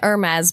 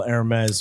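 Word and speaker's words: Hermès: It's an Hermes bag. Oh, good thing we didn't miss that. The H is silent.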